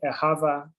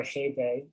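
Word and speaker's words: אהבה: It's the value principally of achad, which means one or unity, and ahava or ahebe, as it's sometimes pronounced, meaning love.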